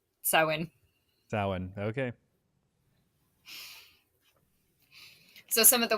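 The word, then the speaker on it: Samhain: it's spelled yeah but it's like an Irish word and it's pronounced sa saan okay so some of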